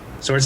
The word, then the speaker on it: sword: Or sword stuff. Sword stuff. Sword stuff's the easiest way to say it, right? Yeah. Until you think too long about how to pronounce that W.